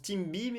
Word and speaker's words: cibi: le team be alors ça se prononce team BIM et ça s'écrit cibi et ça appartient au